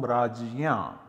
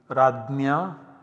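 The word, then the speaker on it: राज्य: form rajya once again this is pronounced differently radhnya ragna as well as ragna in different parts of modern india this is jay plus always remember raj ya that seems to be the pronunciation so these are the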